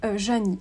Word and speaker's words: Zheani: entre deux artistes qui s'appellent Dian Ward et Janny alors pour la prononciation de nom je pense que ça va